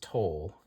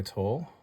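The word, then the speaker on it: Towle: light by I think I think that's pronounced tol is the maker of that I don't believe I have any other candle light by Toll and let's see what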